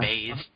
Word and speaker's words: bathe: Random fact, 25% of cat owners blow dry their cat's hair after a bath. Why did they bath them in the first place? Yeah. It's pronounced Oh, no. bathe.